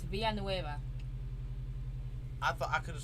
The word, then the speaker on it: Villanueva: in the robbery charlie villanueva uh you think you need to learn how to pronounce that name it's via nueva i thought i could